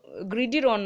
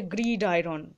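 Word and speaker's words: gridiron: অ্যান্ড অন দ্য, এটা দেখো গ্রিডির অন নয়, ঠিক আছে, গ্রিড আয়রন, এইটা কেটে কেটে উচ্চারণ, তাহলে গ্রিড আয়রন বয়েলস আর লাভার্স হার্ট।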